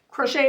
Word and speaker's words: crochet: Crochet is actually just a French word for hook. Yeah, that's why it's pronounced crochet without the T on the end, because it's French.